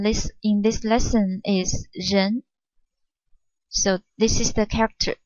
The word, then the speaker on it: 仁: talk about in this in this lesson is Jen so this is the character Jen the pronunciation Jen the meaning of this gen means benevolence or